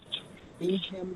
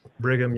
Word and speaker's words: Brigham: Anybody else from Bingham Young University? It's It's actually pronounced Bigham Brigham Young University.